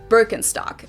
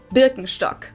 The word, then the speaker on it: Birkenstock: So English speakers usually say Birkenstock. In German we say Birkenstock.